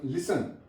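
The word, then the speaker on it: listen: जाती है फर Apple लिसन य बड़ा इंपोर्टेंट वर्ब है लिसन य पर टी साइलेंट है क्रिसमस टी साइलेंट है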